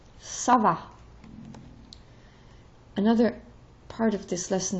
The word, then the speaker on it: ça va: And then the CD softens the C. If the C doesn't have a CD, this would be K. But because of the CD, it's Sa. Ça va.